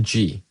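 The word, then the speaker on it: ぢ: And so, when you add the dakuten mark on top, chi becomes Well, it's pronounced ji. But, its romanization is di.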